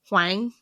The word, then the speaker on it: Huang: So she has another, her name's Anna, and I didn't look up how to pronounce her last name, but I'm pretty sure it's Huang, I think.